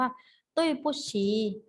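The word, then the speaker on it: 对不起: ขอ โทษ นะ คะ ภาษา จีน ออก เสียง ว่า ตุ้ย ปู้ฉี่ ตุ้ย ปู้ฉี่ แปล ว่า ขอ โทษ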